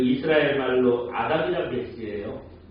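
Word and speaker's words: אדם: 그 저것도 맵이라는 이스라엘 알파벳인 우리나라랑 똑같이 미음 발음이나요 그래서 다 아암 그렇게 되는 거예요 그서 합치면 아담 이게 되는 겁니다 예 그 사실이 아담이라는 말에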